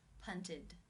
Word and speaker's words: punted: The final infinitive sound is the T sound. This means it is case 3, where the ed is pronounced as the I as in sit with the D sound. Punted.